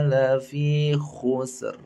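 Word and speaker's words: لفي خسر: Al-Asr ayat 2 juga pada lafadz khusrin, maka dibacanya ro-nya menjadi tebal. Innal insana lafi khusr.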